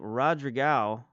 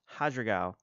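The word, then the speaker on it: Rodrigão: We picked up Rodrigao, sorry, in Brazil. They pronounce R's as H's. I don't know if you know this, but if you watch mixed martial arts and you see a lot of Brazilian fighters, you kind of learn how Portuguese sound, at least the Brazilian kind of Portuguese sounds, and they pronounce their R's as H's, so this is Hadragao.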